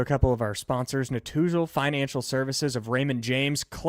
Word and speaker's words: Netusil: can reach them at Natuzel Financial Services of Raymond James by searching them online. Natuzel is spelled Netusil.